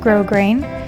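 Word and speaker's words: grosgrain: step is adding your grow grain ribbon this is grow grain ribbon it has little ridges on it um it's spelled gross grain but it's pronounced grow grain you can buy it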